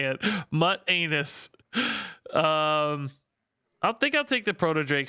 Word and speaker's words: Mutanus: Mutanus is pronounced mute anus. Okay, that's how we're gonna say it. Mutt anus.